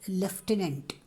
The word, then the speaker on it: lieutenant: Belongs to a 25-year-old martyr Lieutenant Hanifuddin. Look at this word. You have to pronounce as lieutenant. There is no F. U-T becomes Fa.